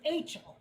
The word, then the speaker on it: Achel: Okay, it rhymes with Rachel, so it's Achel.